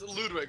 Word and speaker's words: Ludwig: uh let's see uh Rio well it's it's Ludwig right yeah that's the pronunciation of it yeah yes okay so it